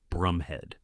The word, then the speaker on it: Bromhead: Incidentally, whilst the name is spelled b r o m h e a d, it's actually pronounced Brumhead.